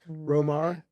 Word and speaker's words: Romare: den and so it's they say it's romar if if you do it the kind of the two syllables right that that